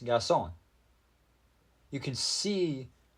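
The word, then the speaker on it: garçon: French it is pronounced gason you can see the squiggly C is pronounced like an S and the r is silent here's another one man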